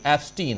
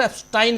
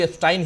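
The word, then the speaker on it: Epstein: है कि Jeffrey एप्स्टीन, हालांकि मिस्टर एप्स्टाइन कह रहे थे वो, ओरिजिनली नाम उच्चारण भी एप्स्टाइन ही करना चाहिए, लेकिन चूंकि अपने यहां एप्स्टीन कहा जा रहा है तो मैं भी वही कह रहा हूं।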